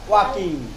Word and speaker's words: walk: Working না ওয়াকিং। ওয়াক উচ্চারণটা এলটা উজ্জ্ব থাকবে।